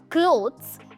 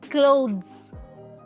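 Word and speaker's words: clothes: दोस्तों इस वर्ड की प्रोनाउंसिएशन में थ का साउंड नहीं द का साउंड आता है। इट्स नॉट क्लोथ्स इट्स क्लोथ्स।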